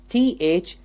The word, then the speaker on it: though: Let's look at the example, T-H-O-U-G-H. That's though. Although.